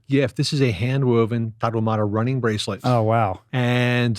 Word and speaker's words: Tarahumara: Tarahumara.